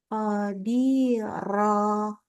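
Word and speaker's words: قَدِيرًا: Ini fathatain. Kita bacanya qadirah.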